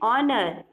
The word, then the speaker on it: honor: Okay, here your H is silent. So again same, an honor, an hour.